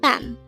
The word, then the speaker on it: 밤: Again, bam. This is just a one-syllable word and it is pronounced as bam.